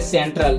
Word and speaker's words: central: लेकिन यहाँ C का उच्चारण क नहीं होगा, सेंट्रल यानी सेंट्रल, ठीक है।